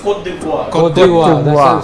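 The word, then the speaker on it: Côte d'Ivoire: I'm saying, what's the pronunciation? Cote No, it's Cote d'Ivoire.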